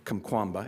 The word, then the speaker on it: Kamkwamba: So this year's book is The Boy Who Harnessed the Wind by William Kamkwamba, and I know that's the way you pronounce it because who's going to correct me, right?